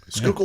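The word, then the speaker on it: Schuylkill: the skookle oh yeah skookle is a river that runs through Pennsylvania for those that are not from this area and it's spelled s c h u k i l l is it I don't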